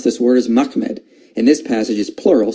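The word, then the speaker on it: מחמד: The way you pronounce this word is Mahmed.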